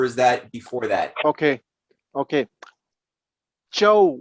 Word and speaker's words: Zhou: Chow with an accent on the O was the nickname of